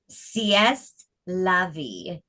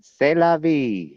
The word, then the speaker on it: c'est la vie: Sieste La Vie, written C'est la by, vie. I didn't say it right. Say La That's Vie, man. c'est la vie.